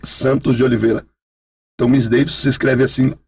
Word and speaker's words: Misdeyvison: Miss Davidson se escreve MISDEYVISON. Porque o meu nome é Miss Davidson Santos de Oliveira. Então Miss Davidson se escreve assim, se escreve.